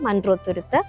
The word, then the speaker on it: Munroe Thuruthu: रहे हो तो जरूर मंड्रो तुरुत एक आइलैंड है एक्चुअली, उसको मलयालम में ऐसे ही प्रोनाउंस करते हैं मंड्रो तुरुत.